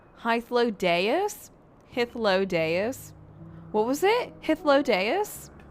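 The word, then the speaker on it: Hythlodaeus: I guess I'll look at it's not Hythlodius, it's Hythlodeus?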